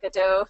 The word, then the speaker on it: GaDOE: Godot.